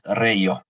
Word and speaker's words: Reijo: If there's questions for Reijo, is that the correct way to pronounce it, by the way? Yes, it's Reijo.